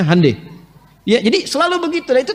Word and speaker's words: Hyundai: Honda mereka bikin hande Hyundai itu dibacanya hande ya jadi selalu begituah